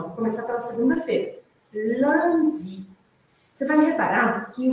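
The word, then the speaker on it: lundi: passo por passo L Land Land a gente tem aqui um som que não existe em português que é o som ã an Você pode abrir um sorriso para fazer isso ó Land tem que sorrir felicidade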